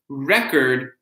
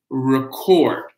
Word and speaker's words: record: So remember, record versus record, right? Because where the stress is on the word record versus record. Very, very good.